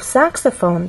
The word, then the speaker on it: saxophone: voice glide up clarinet in the case of saxophone there are also three syllables but the stress syllable is the first one which means we have